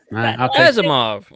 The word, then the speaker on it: Asimov: Isaac Asimov. Thank you for being the one to pronounce that out loud because I don't know if I do. Yeah. Azimov.